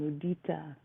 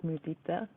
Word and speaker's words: mudita: And when he wrote it on the board, he wrote it, so it's spelled, the Pali word for sympathetic joy, altruistic joy, is spelled Mudita, but he spelled it Moodita.